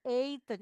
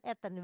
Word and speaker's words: eten: Lebih cantik lagi kalau ngomongnya we eten. E-nya panjang bukan eten. We eten karena e itu dia kalau dipotong suku katanya dia tidak ditutup oleh huruf mati. Jadi panjang ya.